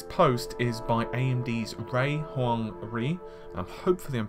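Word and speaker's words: Huang Rui: Now, this post is by AMD's Ray Huang Ri. Hopefully I'm pronouncing that correctly.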